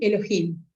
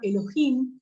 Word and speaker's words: Elohim: sabemos que la palabra Elohim es una palabra hebrea sí que es una combinación del sustantivo singular Elo con terminación H que se pronuncia J agregado agregando el sufijo